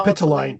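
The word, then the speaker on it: Capitoline: Well Capitol Hill they said was named after the Kapal how do you pronounce that? Capine capitooline capitooline hill thank you.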